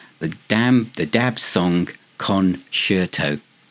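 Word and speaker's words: Conshirtoe: dam the dab song con shirto say kerto but it's spelled c o n s h i r t o e conto um so their humor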